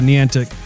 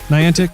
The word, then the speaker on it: Niantic: have reopened developer in that semantics - social pronounces Niantic corny antics put let's go with knee antic Niantic not on the Niantic will say about these